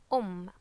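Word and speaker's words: أم: so this would be um okay and notice this is here so we pronounce the um sound two times or with stress so um and this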